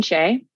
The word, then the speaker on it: Shea: my name is shay so with an ion at the end and shea is spelled like shea butter s-h-e-a would be a good